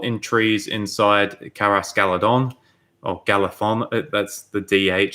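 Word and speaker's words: Galadhon: You've probably noticed in my videos I struggle to pronounce TH, and the DH sound in Tolkien's work is like supposed to be pronounced with a TH, like Galathon.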